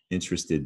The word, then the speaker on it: interested: state and down below interested does have an e d ending and you actually pronounce the e D interests Edie you